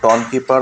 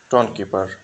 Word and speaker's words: Tonkeeper: আসসালামু আলাইকুম আজকে আমরা দেখব টনকিপার ওয়ালেট কিভাবে ডাউনলোড ইনস্টল এবং ওয়ালেট ক্রিয়েট করতে